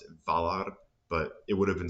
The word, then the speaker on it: Valar: That is, and maybe they actually would have still pronounced it Valar, but it would have been strange because usually an F in the beginning of the word isn't going to be voiced.